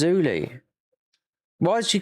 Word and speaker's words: Zully: when she jumped into his chat and he went, Zully. I was like, what? Don't you know to get pronunciations right? Because it's spelled Z-U-L-L. I said, no, it's always Zuli.